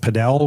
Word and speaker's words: padel: We can talk a little bit about padel, which is am I saying it right? Padel?